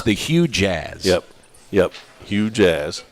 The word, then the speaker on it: Hue Jazz: Jazz it is this is the way you spell it h u e second word j a z z it's the Hue Jazz yep yep Hue Jazz say it quickly cuz